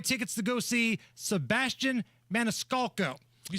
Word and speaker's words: Maniscalco: to give away tickets to go see Sebastian Maniscalco you said it right thank you great comedian